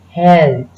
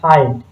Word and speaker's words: hält: Mark the difference in the pronunciation as well because it's a umlaut. It will be held and not held. Held, halt, no.